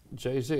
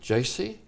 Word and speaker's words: Jay-Z: pronunciation right didn't I is it JC no it's JayZ right so I found